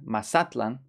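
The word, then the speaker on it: Mazatlán: Mazatlan, remember the pronunciation? Mazatlan, place of Mazatl or deer.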